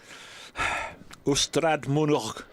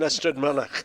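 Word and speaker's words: Ystrad Mynach: I think you mean Astrad Manak. Yeah. Is it Y S T R A?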